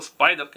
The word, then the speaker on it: Spyderco: Это модель, произведенная на основных американских мощностях компании Спайдерка, которая правильно читается Спайдерка, не устаю вот это вот упоминать, ну кому как нравится.